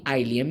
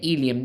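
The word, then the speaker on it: ileum: उसके बाद तीसरा पार्ट हमारे पास आ जाता है जी आइलियम या ईलियम। ये दो तरह की इसके अंदर जो है प्रोनाउंसिएशन होते हैं।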